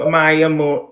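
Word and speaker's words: Amaia: was a girl named Amaya. Wait, there was a girl that something sunk. Amaya was her name. Oh, A M A I A. That's how I told her to say her name, but I forgot what words I used.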